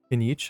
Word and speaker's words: Kinich: With We know Kinich. our Fontaine friends love a little drama. There's no way they let their readers down. Isn't that Charlotte? And standing next to her, surely that can't be Kinich? Kinich?